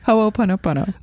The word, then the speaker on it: Ho'oponopono: Now here, Ho'oponopono. Ho'oponopono. Okay, that was really bad. Ho'oponopono. Okay, so just listen to Lita. She'll say it again. Ho'oponopono.